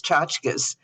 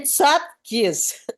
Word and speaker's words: tchotchkes: and they had these tchotchkes, and I explained to her that at least she didn't say tzatkis. She didn't say tzatkis. I heard people mispronounce it like crazy.